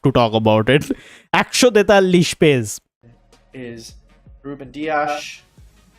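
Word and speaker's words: Rúben Dias: talk about it is Ruben dias been trying to say the pronunciation attack in as Portuguese away as possible look I'm not from from Portugal but I would say something like Ruben douche yes yep I think for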